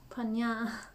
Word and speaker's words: prajñā: is the profession of prajna oh i think the sanskrit pronunciation is punya but i'll just stick to the english pronunciation for now which can be translated